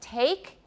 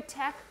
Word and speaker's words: take: dropped you monophthongize so instead of saying take in taiwan you often hear attack yeah for example attack that pen attack we often hear tech or tack for take i think it's partly